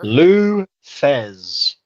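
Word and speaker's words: Lou Thesz: goes for the I can't pronounce this one here. Lou Thez.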